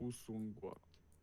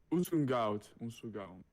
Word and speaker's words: ou son goût: Usungout. Usungout. No. It's not. Hold on. No, it's not correct. Où son goût? Ou son goût.